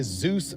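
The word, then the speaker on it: Dzus: it'll be mint okay this right here is a Zeus fast ER it is spelled DZ it is a quarter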